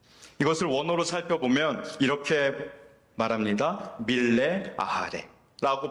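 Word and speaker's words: מלא אחרי: 밀레 아하레 라고 발음하는 전심으로 따른다라는 뜻입니다.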